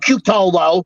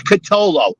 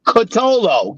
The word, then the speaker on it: Cutolo: can't even pronounce catolo it's not cutolo it's kitolo it's very easy it's kotolo can you say that